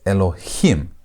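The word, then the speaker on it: אלהים: This is going to be pronounced as Elohim. That him. That's where you put the emphasis on the last part.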